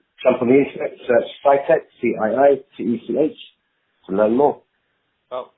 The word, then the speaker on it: CiiTECH: Well, our products, you should jump onto the internet, have a search for Cytec. Cytec is spelled CIITECH.